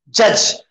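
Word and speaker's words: judge: जज, आसान है ना भाई? डी साइलेंट है।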